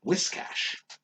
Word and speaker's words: Whiscash: Whiscash. Wishcash? Whiscash. Wishcash. Wishcash? Yeah. It's not wish, though. It's yeah. whis.